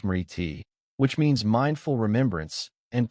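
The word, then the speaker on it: smriti: The foundation of all yogic practice is awareness known as smorti pronounced smiti which means mindful remembrance and present awareness.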